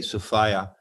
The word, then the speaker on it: Sophia: sophia which means wisdom i say sophia rhymes with desire okay i like that so sophia distinguishes it from just the girl's name sophia right all right we